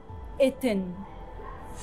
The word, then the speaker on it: أتن: أتن أول علامة هنلاقيها هي على شكل الريشة وبتتنطق ألف مكسورة، ووراها هنلاقي نصف الرغيف الخبز اللي بيتنطق ته، ووراها هنلاقي علامة أمواج المياه اللي بيتنطق إن، وتتنطق الكلمة على بعض أتن.